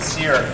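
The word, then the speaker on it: Cyre: Ryan's last name is spelled C-Y-R-E. I think it's very appropriate that he pronounces it Sear, given that he's a chef.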